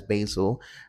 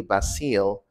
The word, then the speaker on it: Basil: the cartoons they watch Nigerian pronunciation is simply basil basil so it's basil in Nigerian English in case maybe your name is basil and you come to Nigeria and somebody calls you basil just know you're the one they're calling so it's uh basil in standard British English then we also have